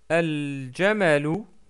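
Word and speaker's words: الجمل: shadda, et en plus on va prononcer le lam du L qu'on rajoute. Par exemple, al-jamalu, al-baytu, al-ghazalu, al-fa'ru. Donc remarquez que j'ai toujours prononcé le lam et il n'y a pas de shadda sur ces lettres-là.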